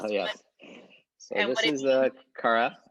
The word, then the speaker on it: Kara: quick here i don't know if i'm gonna pronounce this correctly seek kara and tell us what so this is a kara it's right here this is a symbol of